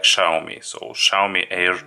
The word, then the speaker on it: Xiaomi: least halfway correctly because usually I used to pronounce it somewhere like sell me or something like that so but YouTube says that it should be something like Xiaomi or Xiaomi air 2